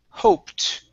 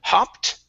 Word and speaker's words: hoped: Now the only other one is the word hoped. Right here instead of hopped. Okay, give me an O sound.